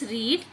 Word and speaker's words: read: So the spelling here is same for read, but in the present tense we will use as read, and in the past tense, though we have the same spelling, we will read it as read. It's not R-E-D, it's R-E-A-D. I read this book long ago.